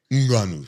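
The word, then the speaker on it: Ngannou: I thought how you taught me how to pronounce his name months ago. How do you say it? Nganu.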